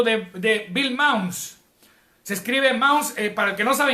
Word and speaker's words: Mounce: Se escribe Mounce, para el que no sabe inglés, se escribe Mounce, con C. M-O-U-N-C-E. Mounce. Se pronuncia en inglés.